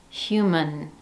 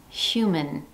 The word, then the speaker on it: human: For example, in the word human, the first syllable carries the primary stress and the second syllable is unstressed.